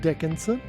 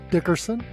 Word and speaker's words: Dickerson: and Miss a and Dickinson Dickerson you don't often hear that now you're mispronouncing my name yeah you know what